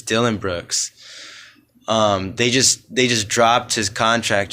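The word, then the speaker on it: Dillon Brooks: I was calling him Darren Brooks, but it's Dylan Brooks.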